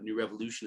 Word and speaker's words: KnewRevolution: New Revolution is spelled K-N-E-W, small r, capital E, emphasizing the word evolution and revolution.